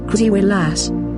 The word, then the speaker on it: Krzywy Las: The crooked forest, Polish pronunciation, krzywy las.